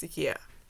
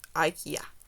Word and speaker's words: IKEA: It's just the way I say it because in my language, one of my languages, like in two of my languages, it's pronounced IKEA, not IKEA.